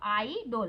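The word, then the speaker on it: idol: तो उसमें आइडोल लिखा हुआ, आइडोल पर आइडल लिखते हैं, इसको बोलते हैं आइडल, ठीक है।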